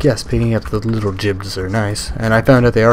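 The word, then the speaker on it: gib: reason that the word jibs exist, and it's pronounced jib, I found out. It's the G-I-B word that everyone says, like, when you blow somebody up.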